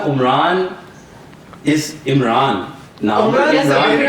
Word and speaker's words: Omran: मैं जब समझाता हूँ कि यार नाम इमरान ही है, लेकिन मिडिल ईस्ट में वो स्पेलिंग यूज या ज्यादा एम्फेसिस वो ऐन पे करते हैं, तो इमरान बन जाता है।